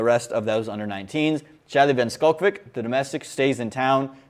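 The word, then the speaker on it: van Schalkwyk: everybody would prefer that because most people can't pronounce it. It's Van Skulkvik, guys, and it's Van Skulkvik.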